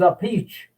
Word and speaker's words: Appice: it a-p-p-i-c-e he says my boy your name is a peach a piece okay so everybody got